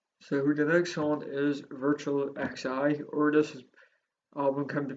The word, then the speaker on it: Virtual XI: So the next song is Virtual XI, or this album can be pronounced as Virtual 11.